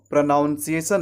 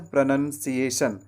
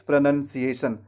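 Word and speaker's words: pronunciation: तो ध्यान रखना है, आपको प्र के बाद नाउन नहीं कहना है। इट्स not noun, it's none. तो प्र के बाद आपको नन कहना है, नन।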